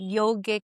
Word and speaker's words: yoga: That's why they call it yog like the very path of yog pronounced often yoga. We like to pronounce it as yog.